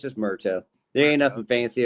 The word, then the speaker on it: Murto: It's Murto. Like when you see it, it's Murto. It's just Murto.